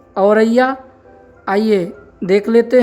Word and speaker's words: औरैया: निरंतर रूप से ज़रूर कीजिएगा तथा विद्यार्थियों से उच्चारण करने के लिए अवश्य कहिएगा। शब्द है औरैया।